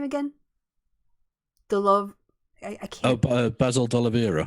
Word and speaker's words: D'Oliveira: Basil D'Oliveira. D'Oliveira.